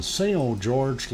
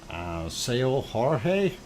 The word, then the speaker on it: São Jorge: Tells us the ocean is pretty rough, and the Azores are indeed, it's pronounced Jorge, São Jorge, not São Jorge.